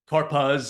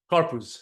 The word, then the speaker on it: Karpuz: but nobody knows and nobody knows how to pronounce it either. They say all kinds of different all different Karpaz and all kinds of stuff like that, but Karpuz, that's how you say it.